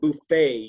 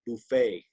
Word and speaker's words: buffet: So just this one word, buffet. You don't pronounce the T on the end of it. Buffet.